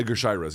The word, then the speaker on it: Edgar Chairez: How about Edgar Chairez? Am I pronouncing that correctly? Edgar Chairez, yeah.